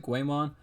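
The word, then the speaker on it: GAOMON: using is a a Guymon I think that's how you pronounce it Guymon it's like g-a-o-m-o-n and it's pretty cheap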